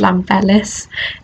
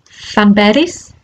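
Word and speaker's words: Llanberis: to correct myself here it's definitely not pronounced lam fellais it's fanberries i think um yeah i hope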